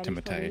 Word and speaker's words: Timothée: Actually, pronounced Timothée Chalamet. I was going to say it's Timothée. Timothée? Yep. Is that how you pronounce it? He says. Yeah. Correct. Really? That is how he pronounces it.